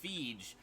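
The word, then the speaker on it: Fieg e: Especially since I knew a guy whose last name was Feige, spelled F-I-E-G-E, and it's pronounced Feige. So every time I see that, It's the same name with the I and E flipped around and pronounced completely differently.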